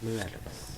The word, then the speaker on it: Morales: The way he pronounced his name alone, Miles Morales. he hit that R.